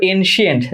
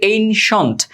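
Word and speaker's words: ancient: দেখ এটার উচ্চারণ অনেকে কর এনসিয়েন্ট যেটা ভুল। এটা হচ্ছে এনশন ওকে তাহলে বলছে রাইম রাইম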